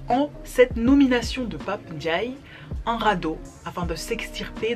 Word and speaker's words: Ndiaye: Il ne fait pas non plus l'effort de prononcer correctement son nom de famille, qui n'est pourtant pas si compliqué. Ndiaye, Ndiaye.